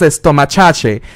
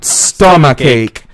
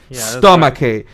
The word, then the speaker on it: stomachache: Santas means pronounce the word stomachache and MS esta muchacha that's not the correct pronunciation the correct pronunciation is the following please repeat with us repeat after us teach other let's do it three two one stomachache stomachache so does the correct pronunciation let's match and